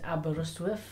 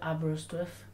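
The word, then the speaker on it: Aberystwyth: and I'm actually from Wales my hometown is aberrustwif yes that's right aberystuff don't worry if you can't read it or spell it doesn't matter and uh I've had one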